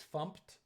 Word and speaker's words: fmt: In Go terminology, the way you pronounce FMT is fumped. It stands for format, but Go programmers say fumped when they are referring to this FMT thing.